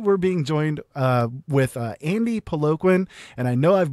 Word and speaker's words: Peloquin: It's a French Canadian name that's pronounced Peloquin, but I don't want to